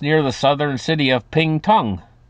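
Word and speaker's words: Pingtung: the southern city of ping Tong yes I think I pronounced it right p i n g t u n g ping Tong what a name for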